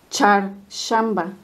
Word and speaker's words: Çarşamba: Aquí, amigos, está la Che y la She. Ahí por Facebook me preguntaron que querían saber la diferencia de la pronunciación. La Che es como la de chocolate, la Che de nosotros que tenemos en español. Y la She es como el sh de silencio. Sh. Charshamba.